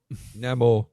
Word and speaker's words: Namor: A character called Namor. Yeah. Namor or Namor? Namor. Actually, we call him Namor because that's how it's pronounced now.